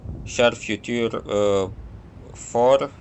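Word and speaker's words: Char Futur 4: Char Future 4, that's how the French people would pronounce its name, is accurate and fast,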